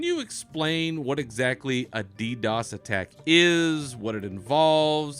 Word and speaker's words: DDoS: In particular, as we saw, I remember very clearly during the Warlords launch, we have seen a series of what they call DDoS attacks.